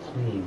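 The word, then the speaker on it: klim: then the Mantra clean it should just be clean it almost sounds like clean but it's not it's clean uh and then idea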